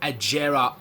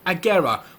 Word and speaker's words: Agera: depth review of the Koenigsegg Agera R s or Agora whichever way you'd like to pronounce it so this car is